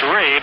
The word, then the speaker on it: Rabe: It's Rabe. I said Robbie. It's spelled R-A-B-E, pronounced Rabe.